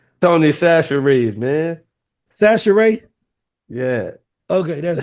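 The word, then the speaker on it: Tony Chachere: Y'all know that little uh y'all know Tony Shashes. Did I say it right? How you say it? Darren. Darren. That's Tony Sasher, man.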